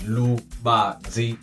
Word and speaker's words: Lubanzi: It's 3 syllables, Lubanzi.